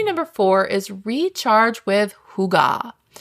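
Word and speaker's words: hygge: Strategy number four is recharge with hugah. I know, hugga sounds like a fancy coffee order, but it's actually a Danish word and it's spelled h y gge.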